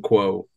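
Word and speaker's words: Qao: Yeah, for anyone keeping notes, Co is spelled Q-A-O. Tyrion Quo.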